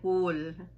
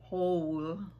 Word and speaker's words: whole: whole, hindi po yan whole. Hindi po yun madalas naririnig natin eh. Bring out a one whole sheet of pad paper. Ang pronunciation po niyan ay whole. Parang whole, parang butas.